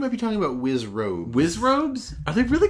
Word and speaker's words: Wizzrobe: the the wizard bees the Wiz ropes the wizard bees wizard bees yeah that's what aren't they called wizard bees think you might be talking about wizzrobe Wiz robes I think really called Wiz robes have I